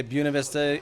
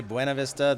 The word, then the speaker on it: Buena Vista: pronounced like Buena yes it is a mispronunciation of the Spanish words for beautiful view in the early days